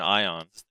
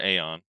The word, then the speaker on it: Aion: There was this thing in Ion or Aeon, however you want to pronounce it, Aion, called Dredgian ship, which is like one of my favorite things.